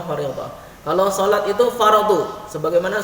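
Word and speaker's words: فريضة: Di situ ada ta, maka disebutnya fardhah, diucapkannya fardhah.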